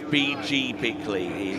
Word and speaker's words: B.G. Bickley: Yes, and the pronunciation is B.G. Bickley.